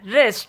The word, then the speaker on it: wrist: Silent letter W is if a word start begins with WR, then W is silent. Wrist, rap, ran, wrinkle, rapper, wrestling.